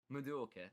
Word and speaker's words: Madoka: It's very Madoka Magica, I grant you. Or Madoka, yes, sorry, I pronounced that very British there. Madoka.